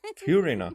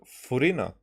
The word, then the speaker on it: Furina: So, Furina. So they don't use English pronunciation because that will definitely be Furina. Furina.